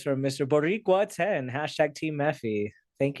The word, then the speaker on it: Boricua: Boricua it's supposed to be B-O-R, not bot. So he misspelled. That's supposed to be a pronunciation guide for how to say his name. It's Boricua. Okay, my bad. Because it's the name for Puerto Ricans, and I think it's like a dialect of Spanish. So Boricua.